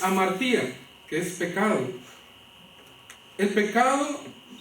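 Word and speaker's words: ἁμαρτία: hebreo se pronuncia chata o en griego que es amartía que es pecado el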